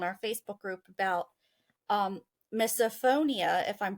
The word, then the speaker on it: misophonia: I made on our Facebook group about um misophonia if I'm pronouncing that right that's spelled m i s o p ho o n i a misophonia like I'm in the freaking spelling B um